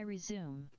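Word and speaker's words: résumé: Here's my resume. Yeah. Resume is 3 syllables.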